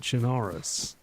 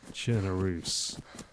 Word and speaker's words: Chernarus: And for the record, it is not Chinarus. It is Chernoo like Bellarus.